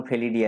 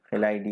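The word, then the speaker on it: Felidae: Carnivore বর্গের মধ্যে যেমন ফেলিডি আছে, আমরা যেরকম উচ্চারণ করবো আর কি, ফেলাইডি বা ফেলিডি, ফেলিডি পরিবার।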